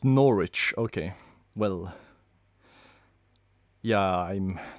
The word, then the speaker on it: Norwich: It's pronounced Norwich, okay.